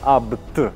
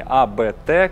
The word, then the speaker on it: Abt: компании, его зовут Иоганн Абт, и именно Абт, не АБТ, как многие говорят, потому что это фамилия человека, правильно она произносится, как Абт.